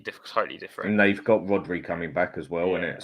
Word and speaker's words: Rodri: I get you, but I think that Rodri's the most.